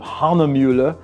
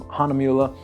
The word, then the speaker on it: Hahnemühle: I'm not pronouncing it entirely correctly because it's something along the lines of Hahnemühle.